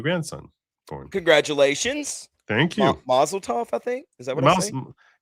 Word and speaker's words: mazel tov: Yeah, mazel tov. But with a V, like tough.